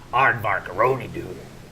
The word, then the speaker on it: Arrrr: Arr. It's actually Captain Arrrr.